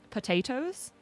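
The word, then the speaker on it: Potoooooooo: I think my favorite racehorse story is the one that's Potatoes. If anyone knows the story of Potatoes. It's a horse whose name is spelled P-O-T-O-O-O-O-O-O-O. Because it's pot and then 8 O's.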